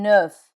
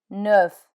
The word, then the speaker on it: neuf: F, like in neuf, neuf.